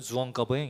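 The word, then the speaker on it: Jean Calvin: 그래서 한국 표현으로는 요한 칼빈인데 프랑스 발음으로는 주엉 까뱅 이렇게 돼요.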